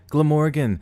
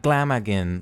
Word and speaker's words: Glamorgan: pokey man DeMorgan Glamorgan look Glamorgan not glam again like what like someone